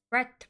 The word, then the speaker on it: breadth: I just took an art history course my freshman year as a breadth requirement. Buzzy, you never pronounce the D, but Breadth. it is important.